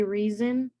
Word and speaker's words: reason: like how we say reason instead of it it's a it's pronounced it's spelled with an s but we pronounce it more with the z instead of yes in